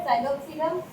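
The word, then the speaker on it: Psilopsida: यहाँ पर भी पी साइलेंट है, साइलोप्सिडा।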